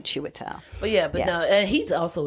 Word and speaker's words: Chiwetel: The I throws you off because it's CHIW, but you just think of it as CHEW, Chiwetel.